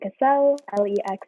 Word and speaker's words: Cassell: The E can be pronounced like castle. Because I put it on Google traduction, Google Translate to make sure the pronunciation, and they say Cassell. And actually it's wrong. It's like Cassell, so it's kind of like Cassell. Yeah, no, kind of like French.